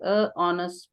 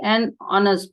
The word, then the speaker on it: honest: Yes, I heard someone say a honest person also. Why an honest person?